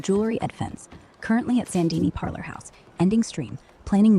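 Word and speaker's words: Saint Denis: Red Dead Redemption 2 context, Goob streaming, Chapter 6, Sandini, pronounced Sandini.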